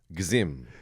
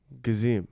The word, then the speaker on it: Gezim: Do you want me to pronounce it the way it's supposed to be pronounced in my in my parents' native language or in English? Parents' native. Gezim. Gezim.